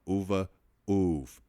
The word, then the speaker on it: UVAUVV: It's called Uva Uv. Now it's spelled UVAUVV.